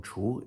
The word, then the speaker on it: 厨: Another second tone 厨 is this one, as in 厨房.